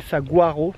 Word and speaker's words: Saguaro: Nous sommes au parc de Saguaro, ça s'écrit Saguaro, mais ça se dit Saguaro.